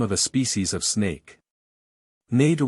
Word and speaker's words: Nader: Nader was probably pronounced like adder, with a nasal aspirate.